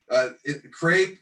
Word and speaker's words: CRAPE: CRAPE rhymes with grape instead of cap, so student research isn't considered crap.